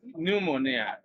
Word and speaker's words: pneumonia: no one here begins with P you have p n e u m o n i a and the spelling rule which also you know when juxtaposed with the pronunciation rule is that when P comes before